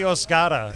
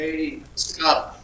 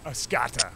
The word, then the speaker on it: Oscoda: Yeah, I want the Oscoda. Yeah. The walker all over the top. The A Scada. A S C A D A. Oscoda. Oscoda. It's Oscoda, and so now you guys can say it right.